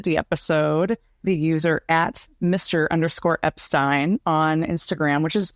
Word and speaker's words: Epstein: name Brian Epstein and the thing that caught my ear when I listened to it it's like that vowel sound so you can hear him very clearly say the i instead of the e but we're going to